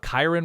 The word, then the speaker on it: Kiren: but you also have Kiren rhymes with siren something there a Kiren